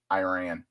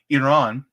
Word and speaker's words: Iran: talking about uh sorry I'm pronouncing it the American way Iran Iran the problem is is